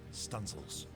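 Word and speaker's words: studding sails: even run out the stunsel Booms to set studding sales pronounced stencils this was known as sailing large it was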